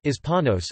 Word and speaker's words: hispanos: Hispanic Americans and Latino Americans Spanish, estadounidenses hispanos, pronounced hispanos are people in the United States who are descendants of people from countries of Latin America and the Iberian Peninsula.